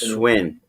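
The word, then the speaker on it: Schwinn: supposed to be uh schwen I think I said that right I don't know if I did or not Schwin it's pronounced swin yeah Schwin are good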